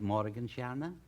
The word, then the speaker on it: Morgensterne: Am I pronouncing it right, Morgensterne? That's right, Mr. Bergen. You pronounced it perfectly.